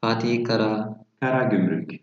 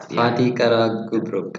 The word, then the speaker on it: Fatih Karagümrük: Fatih Karagümrük. It's hard. Fatih Karagümrük. I know it's hard. That's why we are doing this session. Fatih or Fat? Fatih is this city of the area. Yeah. Fatih Karagümrük.